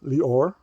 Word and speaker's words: Lior: So I'm Lior. I know it's not that easy to pronounce. Some people in the US call me. It might be easier. I don't care. Whatever name you want to use, just to make it easier for you.